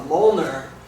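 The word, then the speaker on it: Mjölnir: is uh called a molner and uh it's spelled very weird it doesn't uh it's not phonetic it's M J O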